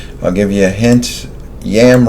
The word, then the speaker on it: Yam: Yam rhymes with ham.